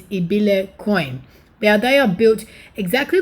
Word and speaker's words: ibilecoin: a little bit easier but the proper pronunciation i've watched videos is ebile coin now they are built